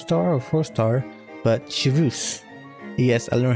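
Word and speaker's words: Chevreuse: or four star but shus yes I learn how to pronounce her name a little hint thinking of it as pronouncing chus anyway before the stand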